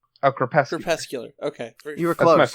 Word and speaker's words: Crepuscular: So how do you pronounce it? Creepscular? Oh, Crepuscular.